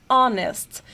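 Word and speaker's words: honest: língua para saber que essa palavra aqui ela é pronunciada onest então esse H aqui ele não se pronuncia nós temos o som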